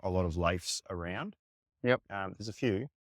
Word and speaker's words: Leif: I was going to start with that and ask you about your name, because it's spelt weird in a way where my brain always jumps to go lay, and it just throws it out there.